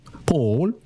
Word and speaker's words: Paul: P Paul P Paul. The way I be saying my name is the New Yorker way. It's like P A W L.